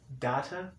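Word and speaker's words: Datta: do you data d-a-t-t-a data yeah okay yeah it's spelled like data just with an extra t yeah you're so young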